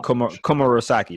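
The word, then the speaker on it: Komurasaki: Yeah, Komurosaki. That's how you say it, I think.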